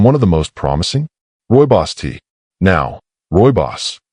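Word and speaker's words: rooibos: And one of the most promising, Royos tea. Now, Roy Boss, pronounced Roy Boss, is a naturally caffeine-free red tea from South Africa.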